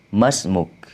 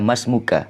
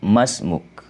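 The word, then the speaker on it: اسمك: kalau laki-laki emas move dibacanya emas mug tidak dibaca masmuka tapi cukup Mas mug baru-baru kalau perempuan dibaca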